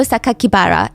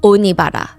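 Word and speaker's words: 酒鬼薔薇: The press read the kanji, so like the Japanese characters for Saito Sakakibara, and instead of pronouncing the way that he intended, the killer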